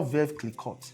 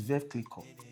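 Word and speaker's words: Veuve Clicquot: continuous process when I started hype I was pronouncing mo as moet it's mo it's not ve clot it's ve cle it's not bellare it's ble I learned those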